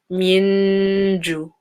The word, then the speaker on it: جوع: Again, an ayn with a sukoon. So give it time. Don't say ju. Don't say ju. But then again, don't say ju. You have to make it quite long. Ju. So you know it's an ayn.